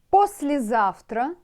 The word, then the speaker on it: послезавтра: По, сле, S-L-E, сле, сле, после, зав, тра, Т-Р-А, тра, тра-та-та, тра-та-та. Послезавтра, послезавтра. It's a song, you know.